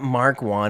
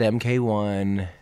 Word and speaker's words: Mk1: Yeah, I know that Mark 1 and Mark 2. Sorry, I know. Sorry that I said MK1. I know it's pronounced Mark. Mark 1.